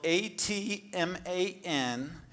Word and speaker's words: Atman: Atman? It is spelled A-T-M-A-N, and Georgia is another one of our artists who continues to support us year after year.